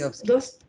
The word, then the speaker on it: Dostoevsky: And How do you pronounce it? Dostoevsky. Dostoevsky. In Russian, it is Dostoevsky.